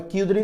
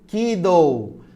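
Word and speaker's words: Kjeldahl: Não é Kildare não, viu? Kiddo. O nome aí é um nome bem estranho, mas a pronúncia é Kiddo.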